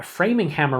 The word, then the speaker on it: Framinghammer: pretty bad with pronunciation so framing hammer I will use that going forward so thank you Rob I had no idea cuz whenever I talk about uh this series specifically everybody here in the Buffalo New York area that I've ever talked to say framinghammer so I just assume that was the name it's not it's framing hammer and if you actually